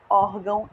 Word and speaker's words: órgão: para diferenciar peso o órgão órfãos o Tom perceberam essas palavras todas terminam com mão também mas elas são paroxítonas é a outra sílaba dela é acentuada é órfão órgão e soltam gente olha